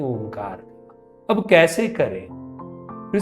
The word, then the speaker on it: ओंकार: ओंकार करते समय सबसे पहले गहरी सांस लेनी है, और सांस को बाहर लाते हुए ओंकार का उच्चारण करना। अ, उ और म तीनों को पर्याप्त समान समय देना है।